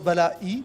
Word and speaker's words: Balaÿ: Oui, ça se prononce Balaï, mais... Ah, alors c'est pas Ballet alors, Balaï.